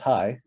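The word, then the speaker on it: chai: that just said so c-h-a-i in hebrew is pronounced high so it would say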